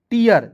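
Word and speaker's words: tear: उसके बाद देखिए यहां पे टी का ट इ ए है। इ ए आर है तो इसका उच्चारण इयर के रूप में करेंगे। तो क्या हो जाएगा दोस्तों? टियर। जैसे मैंने आपको शुरुआत में बोला था एफ इ ए आर फियर।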